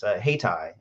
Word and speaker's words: Hayyti: Hightower mentioned, is Haytai. It's spelled Hayyti.